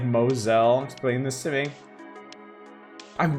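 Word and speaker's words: Mousehole: know you know sorry why is the town of mous hole pronounced like Mosel explain this to me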